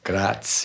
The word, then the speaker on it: Graz: Now, you're from, see if I can pronounce this properly, Graz? Graz, yeah.